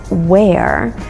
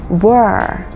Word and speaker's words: were: small note here please make sure you don't pronounce the word were as where that's what many students